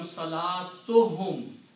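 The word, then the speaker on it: صلاتهم: So salatun and whom, when you combine them, you don't pronounce two dhammas here. It will become salatuhum.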